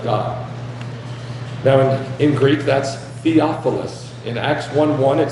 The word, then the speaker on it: Theophilus: Theophilus. That's how you say it in Greek.